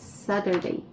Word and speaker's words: Saturday: Вимовляється він як Saturday. Замість букви Т ми читаємо як букву Д.